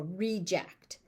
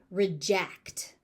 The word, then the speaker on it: reject: So the stress pattern moves depending on whether it's being used as a noun or a verb. All right, so as a noun, it is a reject. As a verb, it is reject. So pay attention to how the word is being used or how you are trying to use the word to know what stress pattern that you need.